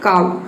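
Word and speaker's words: cow: जैसे कि देखिए यहाँ पे एग्जाम्पल है काऊ, अब इसको को नहीं बोलेंगे, ये होता है काऊ।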